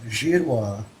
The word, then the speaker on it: Girouard: know him well um my name Gerard is was originally pronounced jira and the meaning of